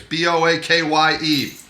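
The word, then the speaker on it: Boakye: Kofi Bo watch a it's boa kye go watch a just learn how to say it at the K Y he is Chang Cheh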